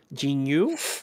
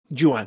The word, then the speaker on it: Ju-on: ever since I saw it, I can never pronounce it correctly. Either Jinyu, is that how you pronounce it? The Grudge. Yeah, but it's Grudge. The Japanese version. Yeah. I would love to maybe Ju-on, thank you.